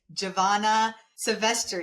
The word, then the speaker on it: Giovanna Silvestre: Her name is Giovanna Silvestre.